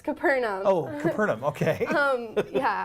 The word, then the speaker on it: Capernaum: you mean okay I don't know how to pronounce it but what is Capernaum yeah it's Capernaum Oh heard him okay yeah I've had a